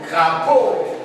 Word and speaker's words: crapaud: Crapaud. Les deux ici est muet. Les deux est muet. Donc on ne prononce pas les deux.